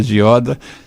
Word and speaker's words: Gioda: Eu agora já sei que se pronuncia Gioda, é um nome italiano, né, de família.